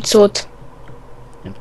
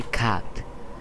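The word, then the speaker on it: cut: cud scenka k scenka To kto to mówi cud bo pisze się cud wymawia się kat bo cud to jest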